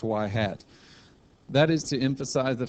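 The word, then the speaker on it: ŷ: things first of all this little hat on top of the Y it's pronounced y hat that is to emphasize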